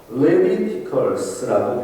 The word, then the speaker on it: Leviticus: 그래서 이 레위티콘을 헬라어를 영어로 그대로 번역을 해서 레비티커스라고 표현합니다. 레비티커스 이렇게 발음해서 레비티커스 이렇게 표현을 하죠.